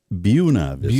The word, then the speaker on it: Buena Vista: It's pronounced Buena Vista.